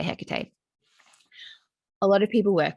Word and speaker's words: Hecate: work with hecate now you can say her name some people say hikate i say hecate a lot of people